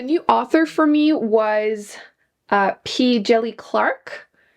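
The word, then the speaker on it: P. Djèlí Clark: A new author for me was P. Jelly Clark. I'm pretty sure this is how you pronounce it. I just listened to an audiobook and that's how they said it.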